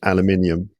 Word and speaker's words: aluminum: Um uh but then we say aluminum like Americans. Um yeah cuz we say aluminium. That's right. That's right. So that's a spelling and pronunciation difference.